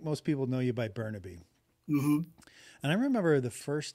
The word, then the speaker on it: Bernabe: Filipino like Filipino say say it like a Filipino yeah you have to roll the RS I've never getting to